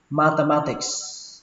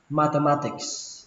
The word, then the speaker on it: mathematics: Âm ở đây là âm tờ các bạn nhé, đừng đọc là mather mà là mather mather. Mathematics mathematics.